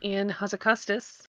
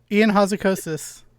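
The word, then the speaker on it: Ion Hazzikostas: did an interview with in house a Custis I said it wrong enough close enough Ian Houser kosis Thank You Ian it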